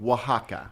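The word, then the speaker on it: Oaxaca: right okay and it's say the name of it again Waka but that's spelled like o a o a x a CA well I think we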